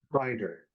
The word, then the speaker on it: Binder: Binder.